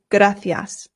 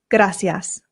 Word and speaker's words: gracias: And here in Spain, they pronounce the C's with a th sound f. So this becomes gracias.